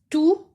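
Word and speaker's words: تُ: Ta with dhamma is tu. Example, toot. Ta with dhamma is pronounced as tu.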